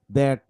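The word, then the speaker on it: that: Function ওয়ার্ডগুলো যে দা, this, দ্যাট, these, those, দেন, দেন, দেয়ার, এগুলো হচ্ছে ফাংশন ওয়ার্ড। এগুলো শুরুতে দ হয়।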